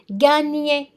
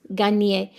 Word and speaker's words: gagner: So the second G is silent. Gagner. So you say gain and then nier. Gagner.